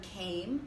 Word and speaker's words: came: Next, we have the word came. Again, you'll notice the silent E, and this is going to be a long vowel, came, k, a, m.